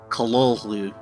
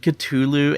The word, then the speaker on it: Cthulhu: How did H.P. Lovecraft pronounce this word? Well, the short answer is Cthulhu. And by the end of this video, you'll be able to pronounce it as well. And you can correct those who pronounce it Cthulhu and Cthulhu if you really want to be that guy.